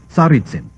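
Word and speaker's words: Tsaritsin: present name of the city once known as saritsim maybe mispronouncing it it's t-s-a-r-i-t-s-i-n well I'm sorry gentlemen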